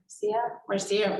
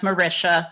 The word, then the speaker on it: Marcia: Marcia, and I apologize if I misspoke with your first name. Good evening. Can you hear me? Yes. My name is pronounced Marisha, but that's Apologies.